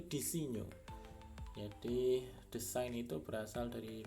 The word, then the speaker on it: disegno: Ini saya coba cek, ternyata pronunciation yang benar itu disegno.